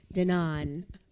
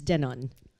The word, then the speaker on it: Danone: to say this wrong because I'm an American, Danone. Wrong. Very close. Close enough. What's the right way to say it? It's Danone.